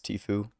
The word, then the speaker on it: Tfue: yeah, it's Tfue. Um or I just it's basically this something like when you spit through your teeth like Tfue.